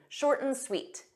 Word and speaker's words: short and sweet: one short and sweet notice that pronunciation we take that and but we just pronounce as M shorten short and sweet short and sweet so you pronounce it like one word this this means concise